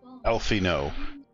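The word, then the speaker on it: Alphinaud: worse I have already received wood from alfino alfino you can remember that's how you pronounce his name Alpha nov his founding particularly passionate about the need to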